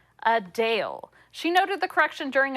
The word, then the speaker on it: Adele: we've been saying her name wrong while many pronounce it just like we do as Adele the singer says it's actually a Dale a Dale she noted the correction during a recent q